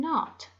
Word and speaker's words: knot: So J can be spelled DGE in fudge and hedge, and N can be spelled KN with a silent K in words like knit and knot.